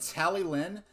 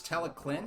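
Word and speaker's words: Talyllyn: the face and it's he pronounces it tally lin but in welsh the double l sound makes sort of a k or a c sound so it's teleclin ice cream which is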